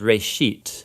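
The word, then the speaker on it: ראשית: Genesis comes from a Hebrew word. It's pronounced "resheet". And it just means beginning.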